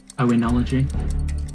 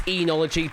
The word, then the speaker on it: oenology: Oenology. That is correct, yeah. I have it pronounced as enology, but you've given me, phonetically plausible with whatever's up there as well.